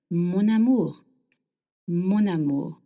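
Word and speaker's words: mon amour: Now if you want to call someone my love in French we link words together. So amu starts with a vowel and m ends with n. So you will link the words together. Monamour monu.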